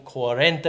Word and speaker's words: cuarenta: always hard to get so I learned katorse is 14 cuarenta is 40. right that's the right way to say it but we were in